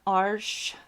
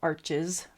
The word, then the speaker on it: Arches: And then here is a Arche hot press. I respect the French, so I like to say it properly, but I am speaking of arches for you, my fellow Americans.